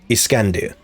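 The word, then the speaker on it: Iskandar: according to an anime the way you say his name in his in persian i believe is iskandir again according to an anime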